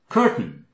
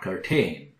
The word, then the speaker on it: curtain: cool classical muscle zsalynn curtain yes it's not curtayne only AR has long haizao here silent curtain curtain on the